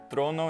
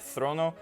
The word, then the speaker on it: trono: And that's why for Greek-derived words in Spanish, you'll hear trono instead of throno and coro instead of joro.